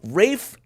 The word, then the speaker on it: Ralph: I'm thinking Ed Nort Ralph Rafe the guy pronounces it Rafe but it's Ralph.